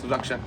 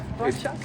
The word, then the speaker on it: Rakshak: And it's called, if I pronounce it good, Rakshak? Yes, Rakshak. Yeah, Rakshak.